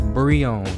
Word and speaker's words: Breone: But yeah, it's Breone. Like Bre. And then own Breone, like Breone.